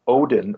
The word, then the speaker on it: Odin: play the part of Odin well Udin they pronounce it it showed uh won